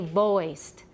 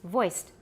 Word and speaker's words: voiced: noticed over many years they say voiced voices yeah don't say voice it's voiced voiced voiceless voicing continue